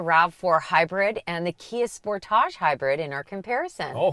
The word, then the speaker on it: Sportage: say sportage i did sportage that's the way that kia pronounces their compact suv in canada sportage in the states they call it sportage sportage but it's the